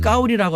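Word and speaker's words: 高丽: 시진핑 주석이 만나기 전에 7인자인 장까오리 그 사람의 한자 이름이 우리의 고려시대의 고려랑 같습니다. 발음을 까오리라고 하는데 나는 까오리 고려라는 이름을 갖고 있어.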